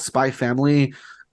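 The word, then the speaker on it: Spy × Family: pretty sure it's called spy family I think when it's like an X I don't think you're supposed to pronounce it in Japanese it's one of those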